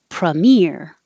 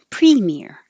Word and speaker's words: premier: You can say premier or premier. Both are fine.